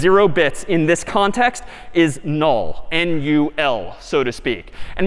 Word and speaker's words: NUL: And this character is, again, sort of pronounced null, or written N-U-L.